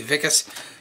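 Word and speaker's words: Wikus: And if you're wondering why it's spelled Wiccus, but did they say Vicus? Because South Africa was a German colony. And they're all German descendants. And Germans make W's, V's, and V's, W's.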